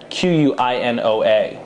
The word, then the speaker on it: quinoa: store seen it's a qu I NOAA so it looks more like canola but it's pronounced quinoa and this is a